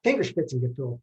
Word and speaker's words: Fingerspitzengefühl: people, I start with Fingerspitzengefühl. That UE, the umlaut over the thing, just pronounce it like it was a U and don't worry about it. Fingerspitzengefühl, fingertip feeling.